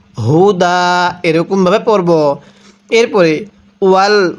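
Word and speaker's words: هدى: কিভাবে পড়ব ওয়া বাইনাতিম তামিমের তিম এরপরে মিনাল হুদা এই হাটা উচ্চারণের সময় গলার মধ্যে এক প্রকার আওয়াজ পড়তে হবে। অনেকেই মিনাল হুদা এরকম ভাবে পড়ি।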